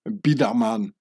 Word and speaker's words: Biedermann: and from now on I'll pronounce the name bman in its real Swiss German form baman like saying J Edgar